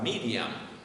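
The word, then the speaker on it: מרים: Este era José con la Y, así se escribe en hebreo, Yosef. Y María, hermanos, era Miriam.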